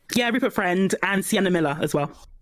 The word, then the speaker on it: Friend: Is that how you pronounce his last name? Yeah, Rupert Friend and Sienna Miller as well.